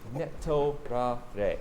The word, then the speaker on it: Netorare: Netorare. So this is a Japanese word. Let's break it down phonetically. So ne, referring to sleep, as in sleeping with someone in an affair.